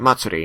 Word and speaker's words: Matsuri: Matsuri, yeah.